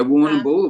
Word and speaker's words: Warrnambool: We normally don't use the AM of the word, like the letters. So it's just you go Warrnambool. So you just go Warrnambool. If you phonetically sound it out, it sounds like Warrnambool. But yeah, it's like Melbourne rather than Melbourne.